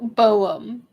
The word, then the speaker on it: Jeroboam: i'm going to be slaughtering people's names gero pronunciation jarrow jeroboam okay straightforward i just wanted to specifically figure